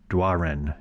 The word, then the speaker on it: Doiron: here in camden paul dwarin d-o-i-r-o-n that's a french name that i could imagine pronouncing it but he says duaren is and he's got lots